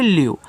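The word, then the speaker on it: leave: उच्चारण हम नहीं करते लास्ट में जो इ आता है उसका प्रोनाउंसिएशन यानी कि उच्चारण नहीं किया जाता तो इसको पढ़ते हैं आपका यहां पे लीव लीव का मतलब होता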